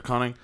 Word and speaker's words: Koenig: because it was Gates McFadden and Walter Koenig, and Oh, nice.